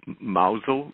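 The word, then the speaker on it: Mousehole: gardening we lived in a village called mausole it's spelled mouse hole we lived in Loveland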